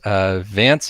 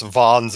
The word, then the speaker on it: Vance: So first, Vance Vandervans, tell us about yourself. Excuse me, it's pronounced Vons Vandervans. It's Dutch.